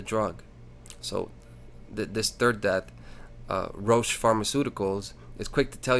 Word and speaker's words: Roche: I caught in this article that Roche, Roche, I don't know how you say it, it's Roche.